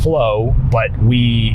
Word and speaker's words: FLOA: The FLOA protocol is what we've created, and that stands for fasting like our ancestors, spelled FLOA, pronounced flow, and there's many pieces to it, right?